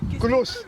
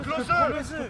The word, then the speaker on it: Klose: Je ne sais pas comment on prononce son nom. C'est Vlahovic, frère. Hein? Krapovic. C'est Miroslav Klose. Klose. Ah, c'est Klose.